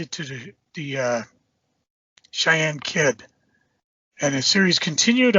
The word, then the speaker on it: Cheyenne: at issue number seven and helped me with pronunciation here corey cheney kid that if that sounds right the cheyenne kid cheyenne that's it see i i don't even know